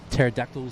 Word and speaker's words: pterodactyls: had the Palm Beach pterodactyls the number two yeah that was causing some problems in commentary yeah actually silent P two yep and then